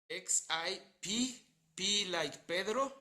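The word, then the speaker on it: Xipe Totec: X-I-P-E space T-O-T-E C. XIP or D? Chipetotic. XIP, P like Pedro, Okay.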